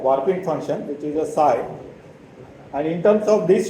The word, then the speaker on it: psi: this function PSI so this is a rich letter which is pronounced as PSI so this particular function